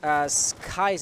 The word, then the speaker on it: Skies: Oh, but we know exactly where he is, and Skies apparently is the way to pronounce Thermite's name, so suppose the V is a Y.